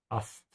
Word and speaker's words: Ast: Ich hänge, just like English it sounds a bit the same, hängen is to hang, an diesem Ast. You should pronounce Ast with an open mouth.